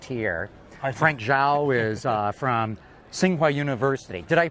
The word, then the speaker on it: Tsinghua: Frank Zhao is from Tsinghua University. Did I pronounce that right?